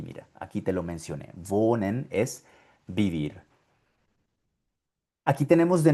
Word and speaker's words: wohnen: Bueno, ahí la historia es muy diferente porque si la H la ves seguida de una consonante, es completamente muda, no suena en absoluto. Aquí, por ejemplo, vemos la H en esta palabra Pero ves que después de la H hay una N. Ahí no suena nada.